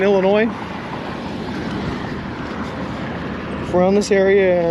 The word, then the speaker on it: Illinois: their numbers by comparison illinois not illinois you don't pronounce the s in illinois if we're on this